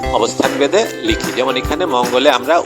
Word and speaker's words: মঙ্গল: মঙ্গলবার বানান দেখো ম উগ, উগ এখানে যুক্ত অক্ষর আকারে আছে, ম উগ ল, মঙ্গল।